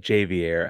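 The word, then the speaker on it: Ja'Vier: Javier Francis is back is that how you say it Javier Javier Francis Samson himself says it jvier I jvier we're gonna trust Samson on that I guess yeah for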